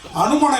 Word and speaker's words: HanuMan: love இருக்குன்னு சொன்னீங்க சார் நான் ஹனுமான் இல்ல சார் நான் ஹனுமேன் அதான் வரேன் வரேன் வரேன்